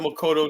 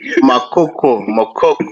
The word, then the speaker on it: Makoko: As long as you got that Makoto there, you do something about that, and then I'll go. Makoko, not The Makolo. You only like to mispronounce it.